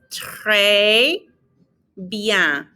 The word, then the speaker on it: très bien: And then notice that the ES ending has an A sound. And so it's très bien. We're not pronouncing the N on bien either. It kind of gets muffled, like you're about to do the N sound, but you don't.